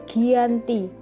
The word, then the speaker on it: Giyanti: perjanjian yaitu di desa Janti dalam pelafalan Belanda ia disebut sebagai Giyanti g h i j a n t i secara tertulis ia terbaca sebagai Giyanti gianto44 sekarang dikenal dengan